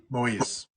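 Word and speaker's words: Moïse: Moise, Moise.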